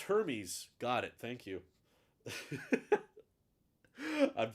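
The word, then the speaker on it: Hermès: so it can't be luxury but um it's pronounced hermes got it thank you i'm sorry i have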